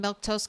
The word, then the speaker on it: Milquetoast: I'm Milktoast. That's how you say my name.